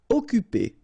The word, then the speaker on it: occuper: Occuper. You don't pronounce the double C here, so it's really like occuper.